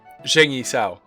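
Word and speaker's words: 鄭一嫂: Zheng Yi Sao. Yeah, it's pronounced like a soft like a soft, long J, is my understanding.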